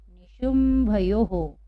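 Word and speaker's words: निशुम्भयोः: तो हम इसको कैसे पढ़ेंगे, हो लगाएंगे हम और हम पढ़ेंगे निशुंभयो हो का उच्चारण हो जाएगा।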